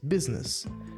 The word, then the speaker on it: business: M program program programa program Business Business duas sílabas Business negócio empresa comércio business